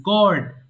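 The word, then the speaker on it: gourd: এটা কিন্তু গার্ড না, গড।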